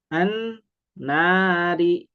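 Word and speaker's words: النَّارِ: Contoh ini an nari. Nah, alifnya dibaca a, i atau u. Nah, karena ada lam maka dibacanya a. An nari.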